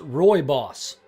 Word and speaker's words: rooibos: gimme a second here apparently it is pronounced Roy boss roo I BOS is